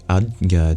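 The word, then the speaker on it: आज्ञा: chakra known as the adga chakra in Sanskrit difficult to pronounce j next to a palatal nasal sound AA here is a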